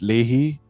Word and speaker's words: Lehigh: I think it's pronounced Leahy. Really? No lah, Lehigh. Is it Lehigh or Leahy? Lehigh. It's Lehigh, okay.